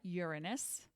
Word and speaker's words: Uranus: Aquarius is guided by Uranus that is the correct pronunciation unless you're in fourth grade and you want to make a joke and then Pisces is